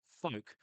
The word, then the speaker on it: folk: eyes across, we have another word with a silent L, folk, and folk is related to the word fellow. So they've kept the O, yeah, sorry, the L in folk, even though it's not pronounced to go its link to fellow.